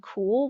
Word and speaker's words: Kuhl: It's pronounced cool and it's spelled Kuhl as you see here.